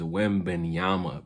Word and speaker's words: Wembanyama: platform that came out and said this man's name wrong. It is Wembanyama, bro.